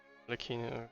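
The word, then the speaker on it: Arlecchino: Arleccino, that's how you pronounce No it.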